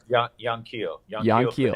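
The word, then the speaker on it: Yanquiel: Is it Juan Keel? Is that it? Young Keel Fernandez.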